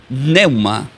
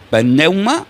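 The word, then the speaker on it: πνεῦμα: Pero del griego se pronuncia como, tiene una P, y sería neuma. Uno puede decir pneuma o neuma.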